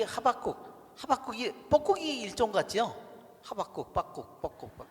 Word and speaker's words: 하박국: 유대인들은요, 이 하박국이 뻐꾸기 일종 같죠? 하박국, 뻐국 그래가지고 하박국이 뻐꾸기 같아요. 근데 이 유대인 발음으로는 하박국, 바의 액센트가 있대요. 하박국.